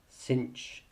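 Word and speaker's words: sinh: s and tangent um but these are Kosh cinch and tanch um so just as a quick pronunciation Kos seems fairly obvious the sign with the H on the end we tend to pronounce cinch and the tan with the H on the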